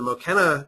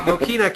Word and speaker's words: Mokena: up with uh Brian and Dave of the mochena community Public Library District in mochena Illinois I believe I am I am pronouncing that right correct guys uh m mochina